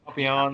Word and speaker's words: Papillon: if it's French, it's a Papillon kind of. Yeah, Papillon. Yeah, I I think think it as or American English speakers, we want to pronounce it as Papillion or something. Papillion. Yeah. It's But anyway, Papillon. But it's weird, like so, like that double Papillon. L is pronounced differently in Paris.